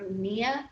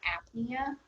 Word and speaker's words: apnea: no breathing all right pania or nia depending on how you say it with that p that silent p um put the word put the letter a in front of it ethnic or apnea means that you're not